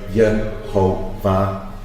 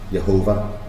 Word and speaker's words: Yehovah: And anyone that wants to access the Leningrad Codex, you could see it, and you'll see the vowel posts to pronounce the name of the Creator, Yehovah, Jehovah.